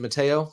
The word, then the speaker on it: Matteo: Is it Matteo?